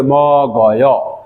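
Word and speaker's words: 먹어: এইভাবে উচ্চারণ হবে ম গয়।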